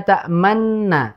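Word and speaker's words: تأمنا: Adapun ismam itu mengucapkan mengisyaratkan kedua bibir dhammah nu, namun tidak diucapkan nu, hanya monyong saja. La ta'manna, begitu.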